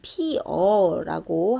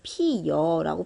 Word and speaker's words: 피어: 반모음이 첨가되는 현상을 얘기하는데 예를 들면 피어라고 할 때 피여라고 발음하는 경우도 있거든요. 그래서 이런 것들은 둘 다 인정해주는 경우가 있어요.